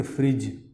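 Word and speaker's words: fridge: जैसे ये यहाँ पर देखते हैं DG एक साथ आ रहा है सब में, DG आने पर D नहीं पढ़ना, D साइलेंट है। इसे पढ़ेंगे फ्रिज, smudge, knowledge, ब्रिज, pledge, sledge, as.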